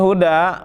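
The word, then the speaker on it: هدى: Ini huda biarpun mansub tapi tetap dibacanya huda. Majrur juga dibacanya huda, minal huda wal furqan, kan ada huda.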